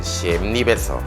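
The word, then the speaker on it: Siem Reap: 1년간을 앙코르 유적지가 있는 씨엠립에서 체류하였기에 가능할 것입니다 심리 정확한 발음은 씨엔블리아입니다 씨앗 즉 파일을 무찌르다라는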